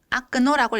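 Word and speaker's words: окно: 같아요 예시를 좀 들어볼게요 창문이라는 단어는 오픈도라고 쓰고 아크노라고 읽습니다 좋아라는 단어는 호러쇼라고 쓰고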